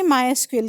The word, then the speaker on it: MySQL: तो एक बार बुक में जो लिखा है उसको आप एक बार क्रॉस ट्रिली कर लेना, जो मैं बोल रही हूँ इसका प्रोनाउंसिएशन माई एसक्यूएल ही है।